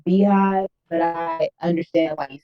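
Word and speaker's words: BeyHive: What I will say about that is, first of all, it's not the Bayhive, it's the Beehive.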